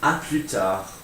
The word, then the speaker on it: à plus tard: You can say à plus tard, à plus tard. Don't pronounce the D in tard.